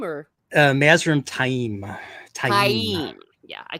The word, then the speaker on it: Taim: Is it Tam or Tame or Mazrim Time? Taim. Yeah, I call him Taim. At least that's how the audiobook. That's how they pronounce it in the audiobook.